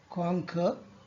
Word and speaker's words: conquer: The word conquer has two pronunciation. One is British, another is American. The British word, the British pronunciation is conquer, and American is conquer. So in first one, the R is generally is not used in British pronunciation. Mostly they don't use R when it comes in the end.